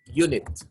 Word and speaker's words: unit: how about this word unit or yeah unit it's wrong now it starts with a consonant because it sounds like yeah yeah unit I didn't say ha